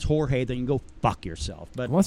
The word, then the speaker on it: Jorge: think a lot but a lot of people call him George even I saw an interview where people are calling George well if you can't pronounce Jorge they can go [